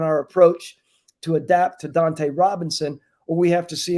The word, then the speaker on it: Dunta Robinson: Dante in a spot Dante Robinson is how it's pronounced you're paying a guy